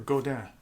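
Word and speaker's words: Godin: i might go the golden root or godan is a proper pronunciation um so whatever i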